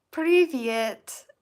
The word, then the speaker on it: Привет: Привет. Hey, привет. That is how it is pronounced, yes.